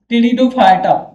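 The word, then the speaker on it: Pteridophyta: फिर आगे की ओर बढ़ेंगे, टेरिडोफाइटा, या इसको पैटिडोफाइटा बोल सकते हो या फिर टेरिडोफाइटा, पी यहाँ साइलेंट रहती है।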